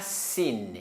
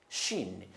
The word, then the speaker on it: shin: C'est pas sin. Sin, c'est autre chose. Sin aussi avec 3 dents, mais sans 3 points sur les lettres. Mais ici, avec 3 points, ça, il faut prononcer shin.